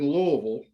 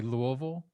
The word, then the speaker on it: Louisville: the anniversary day of me having lived in louisville as long as i have lived anywhere else